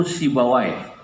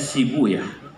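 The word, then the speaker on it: سيبويه: Sibu Yahuna, asluhu Sibawai. Dalam satu lughat dibacanya Sibuyah untuk menyesuaikan wazan. Sebab kalau pakai Sibawai Huna nggak ketemu wazannya. Maka saya pakai satu lughat yang membaca Sibawai dengan Sibuyah.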